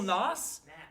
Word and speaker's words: Nas: Little Nas?